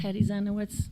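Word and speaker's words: Hedi Zienowicz: My name is Hetty Zenowitz. I live on Joe's Pond Road. Can you spell that for me?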